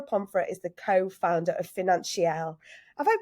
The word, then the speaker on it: Financielle: week's guest Laura pom is the co-founder of financial have I pronounced that right yes Financial it just sounds